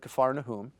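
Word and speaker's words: כפר נחום: you know as capernium if you've ever heard kafar whom that's the the pronunciation uh where he heals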